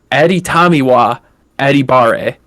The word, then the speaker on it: Adetomiwa Adebawore: I did not rank him, but I did pull him up, and I did write phonetically how to pronounce his name. Adetomiwa Adebawore.